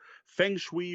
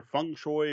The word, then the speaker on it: Feng Shui: Is Feng Shui or Feng Shui or however you want to pronounce it. I'm just going to go with Feng Shui, and yes, I know that's the Americanized pronunciation, by Robin D.